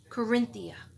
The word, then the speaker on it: Qurinthea: Corinthia.